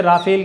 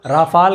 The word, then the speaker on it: Rafale: word है और friends प्रोनोंसीएशन इतना अलग है कि कुछ लोग इसे राफेल कहते हैं कुछ लोग रफेल कह रहे हैं कुछ लोग रामफल कहते हैं तो भिन्न भिन्न तरीके से लोग उच्चारण कर रहे हैं हम इसे रफेल बोल रहे हैं प्लान 10 वर्ल्ड ट्रैक